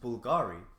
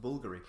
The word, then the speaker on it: Bvlgari: Now, I actually thought it was pronounced Bulgari, but um it's not. Basically, it's pronounced Bulgari. It's an Italian brand.